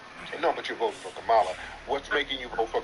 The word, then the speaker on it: Kamala: whenever people do that it's Kamala not Kam that's a kive person